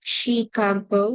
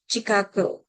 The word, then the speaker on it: Chicago: For the standard English, American English, It's pronounced Chicago with sh, but in Hispanic English, it could be ch, Chicago.